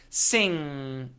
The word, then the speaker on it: sing: vibration Now sing sing when you make the NG sound all the contact all the touching happens in the back of the mouth the tip of the tongue does not need to touch anything sing sing s sing